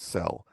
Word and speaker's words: CEL: individual Fields apply yes the common expression language often pronounced cell cel um that is something